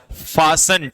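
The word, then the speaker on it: fasten: क्या फासन नहीं पढ़ेंगे इसे, क्या पढ़ेंगे? फासन, टी साइलेंट, ठीक है।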